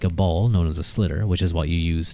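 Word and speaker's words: sliotar: In other places of Ireland, it's called a schlitter. They really pronounce the sh, which there is no sh, but they pronounce it anyway.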